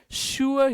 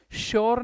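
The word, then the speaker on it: sure: इसका pronunciation शुअर ही होता है। शअर शोर नहीं होता।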